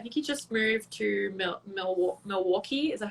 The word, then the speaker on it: Milwaukee: I think he just moved to Milwaukee. Is that how you say it? Yeah, Milwaukee.